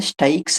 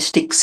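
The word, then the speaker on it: Styx: సో, అలానే ఆ వైతరణి నదికి సిమిలర్‌గానే స్టైక్స్ అనే ఒక నది దీన్ని స్టిక్స్ అని అంటారు ఇంగ్లీష్‌లో. బట్ గ్రీక్ ఉచ్చారణలో స్టైక్స్ అని ఉంది.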